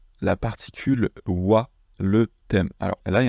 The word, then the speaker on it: は: Mais quand il est utilisé en tant que particule, comme on va le voir dans cette leçon, il se prononce wa, wa.